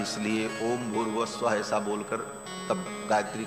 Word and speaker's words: भूर्भुवः स्वः: तीनों को जब एक साथ उच्चारण किया जाता है तो ओम भूर्भुवः स्वः ऐसा हो जाता है। विसर्ग को र हो करके और फिर वो र ऊपर चला जाता है तो भूर्भुवः स्वः ऐसा उच्चारण होता है।